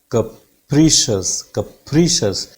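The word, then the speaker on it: capricious: कैप्रिशियस पा साउंड पे बिल्कुल एकदम हाइट पे चली जाती है साउंड, पा साउंड पे, फिर वहां से एकदम फॉल डाउन करेगी, नीचे की तरफ आएगी, राइट.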